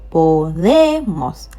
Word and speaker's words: podemos: Podemos. Stress on the last but one.